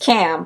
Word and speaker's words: Ham: but so is ham whose name is actually pronounced cam camones epics is the anzu bird meaning cam